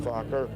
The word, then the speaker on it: Fokker: family that there are a few families called Fokker, which was the Dutch. There's a Dutch. You've heard this? It's spelled F-O-K-K-E-R, Fokker.